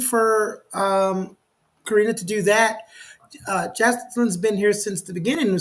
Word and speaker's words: Jacqueline: And while we're waiting for Karina to do that, Jacqueline's been here since the beginning.